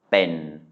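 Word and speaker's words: เป็น: So it's a mid-class consonant and a live syllable, so it's a mid-tone, even though it's a short vowel. So this is ben.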